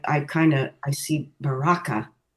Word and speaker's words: Baraka: kind of I see Baraka. Yeah, me too. So, um I don't know where you got your pronunciation of that, but I think the the emphasis on the second syllable um opens the heart